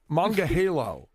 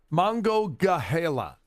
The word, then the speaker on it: Monongahela: Manga Halo? Monongahela.